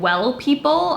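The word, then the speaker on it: W3LL PEOPLE: is from the brand well people I believe that's how you say it's a three instead of an e but this is just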